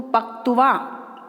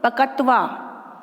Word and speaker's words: पक्त्वा: अब इसमें क आधा तो मैं पूरा क नहीं बोल सकती हूँ, यदि मैं पूरा बोलती हूँ पूरा क और पूरा तय तो बनेगा पकत्वा। ये शब्द नहीं है, इसका शुद्ध उच्चारण है पक्त्वा, ठीक है।